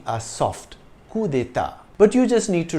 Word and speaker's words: coup d'état: In English, it's coup d'état with an emphasis on the ta. The French pronunciation is slightly different. The D and T are soft. Coup d'état.